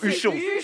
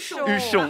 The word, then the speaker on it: Huchon: Huchon. Huchon.